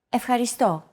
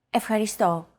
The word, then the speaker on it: Ευχαριστώ: Ευχαριστώ. Your turn. Ευχαριστώ. Ευχαριστώ. Do you remember this mark here? We talked about it in lesson 2. It's the accent mark, and it indicates that this syllable is stressed.